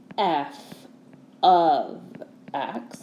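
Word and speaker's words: f(x): f parentheses x and this is pronounced f of x not f times x or f parentheses x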